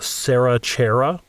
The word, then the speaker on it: Sarah Chera: Okay, yes, we have a review from Sarah Chera. So it rhymes.